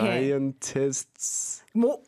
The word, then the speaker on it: scientists: 앞에 자음 3개 있는 것도 어렵지만 뒤에 자음 STS가 오는 발음도 어려워요. 예를 들어서 들면. 과학자들이라고 하면 scientists잖아요. 이렇게. Scientists.